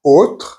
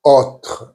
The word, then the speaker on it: autre: However, there is one word which is autre. As you can hear, I'm not saying autre, I'm saying autre. So the O is more open. Autre, meaning other.